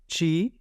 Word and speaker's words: ci: आ आ बी बी ची ची इसको सी नहीं पढ़ेंगे इसको ची पढ़ेंगे ठीक है ची ी